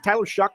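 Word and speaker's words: Shough: Jackson Dart, Tyler Shuck? Is that how you pronounce it? Yeah, from Louisville.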